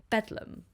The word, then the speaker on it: Bedlam: as Bethlehem hospital but londoners lately abbreviated this term to bethleem and then it was later pronounced beum it was originally built